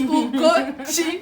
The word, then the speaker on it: Ugochi: I was like, it's Ugochi. Chi is God, not Ugochi.